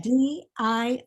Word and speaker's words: Diorio: case yes it's diorio spelled like the designer and pronounced like the cookie says d-i-o-r-i-o diorio it means of